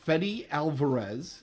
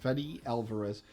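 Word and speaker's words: Fede Álvarez: from shitz Creek and SCTV okay B director fedy Alvarez and that is how it's pronounced fetty Alvarez is currently in Pro production of an alien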